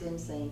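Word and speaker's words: Insein: appropriately named insane prison pronounced insane but spelled i-n-s-e-i and where she was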